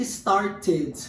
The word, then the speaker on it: started: Em palavras que terminam com som de T e som de D.